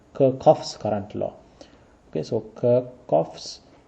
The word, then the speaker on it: Kirchhoff: Some people pronounce the name as Kirkov. Okay. I think that is the most correct pronunciation Kirkoff's current law.